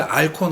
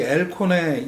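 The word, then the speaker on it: Al Cohn: 사실 알콘 알콘 그래 왔는데 정확한 발음은 뭐 엘콘이라고 하니까 오늘은 앨라고 한번 얘기를 해 보려고 하는데요. 2011번째에는 에어컨의 56년도. 어 그니까 지난 꽃꼬무하고이 엘콘의 2011번째 꽃꼬무를 한번 연결해서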